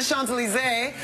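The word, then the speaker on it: Champs-Élysées: me how to get to the champion was he really pronounce it is the Sean's alizée but I read it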